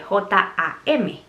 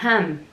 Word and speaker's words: jam: en inglés se escribe J-A-M. Entonces yo no sabía que se pronunciaba jam. Mermelada se dice jam en inglés. Y yo leo y digo, dice ham, J-A-M.